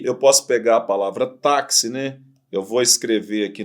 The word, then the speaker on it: táxi: Na verdade, táxi tem 4 letras, mas tem 5 fonemas. Porque, na verdade, você fala o fonema KS, tá vendo?